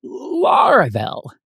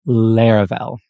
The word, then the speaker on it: Laravel: when people heard the word they called it LEL not laravel and actually some people still do today but trust me the correct pronunciation is Lar fell uh but yeah back then nobody knew what